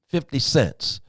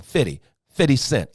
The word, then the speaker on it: 50 Cent: but I'm concerned about the 50 cents. I'm concerned about I said it wrong. 50 Cent.